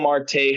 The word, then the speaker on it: Marte: I did not check martel's numbers from yesterday so Marte come on get it right at least at least pronounce the guy's name right Martel Marte it doesn't [